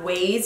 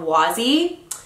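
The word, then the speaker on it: Waze: my best friend Sarai thought it was called Wy cuz it's spelled w a z e and I was like no stupid it's ways like the ways that you go yeah she's a keeper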